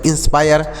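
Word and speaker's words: inspire: तो यह हो गया इंस्पायर, आई एन एस पी आई आर ई तो आई के बाद आर ई का प्रयोग हो तो आई का उच्चारण आय होता है, ऐसे लिखा जाएगा आय, यानी आ की मात्रा लगाई जाएगी।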